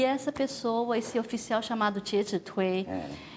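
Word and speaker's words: 介子推: Conta a história do Jie Zhi Tui, é como a gente pronuncia isso, Jie Zhi Tui, e o Festival da Pureza e da Luminosidade.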